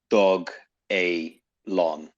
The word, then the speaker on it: Dogelon: but i don't know so on the first website it was announced as dog a long okay so that's how they want us to pronounce it because doge or